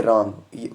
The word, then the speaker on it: wrong: से पहले W है, यहाँ पर W कैंसिल हो जाएगा यानी साइलेंट रहेगा, इसको हम पढ़ेंगे रॉन्ग। कुछ लोग अगर हम देखें इसकी प्रोनाउंसिएशन निकालेंगे ये रॉन्ग बनता है, लेकिन W साइलेंट रखेंगे ये बन जाएगा रॉन्ग।